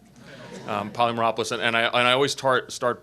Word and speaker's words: Polymeropoulos: a great night because you pronounce my last name correctly poly Merope listen and I always tart